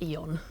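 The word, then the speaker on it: Aeon: The first one has a silent A at the beginning, because it's Eon.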